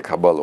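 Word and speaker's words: קבלה: Kabala, İbranice'de Kabala olarak okunur ve fatura demek. Şey bu yani, fatura, fiş demek. Niye?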